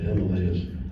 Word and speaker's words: Himalayas: I went to the foothills of the foothills of Mount Everest, and the Himalayas, that they pronounce it there, the Himalayas.